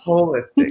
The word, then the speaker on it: holistic: Although it's spelled like whole, a whole, but it's actually holistic.